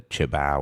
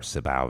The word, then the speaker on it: Cibao: So unlike Nicaragua, the Dominican Republic really only has one valley tobacco region, which is the Chibao or Cibao Valley. I've heard it pronounced both ways.